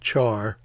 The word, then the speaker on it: char: data type for key is character and it's pronounced char which is short for character but usually yeah